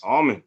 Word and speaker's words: Almond: colleague um royston roasting the correct pronunciation of your last name is is it almond almond yes almond rice and almond so